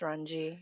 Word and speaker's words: Runge: say your last name it's ranji i mean i don't really care as long as you don't say orange well i want to